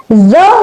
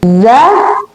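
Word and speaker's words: ز: It has exact buzzing like sound buzz. Okay. So now what is point of emission of the letter Z? Z.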